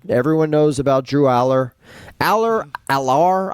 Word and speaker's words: Allar: Allar, I've heard it pronounced him a couple different ways. I I I think they most of the broadcasters say Aller.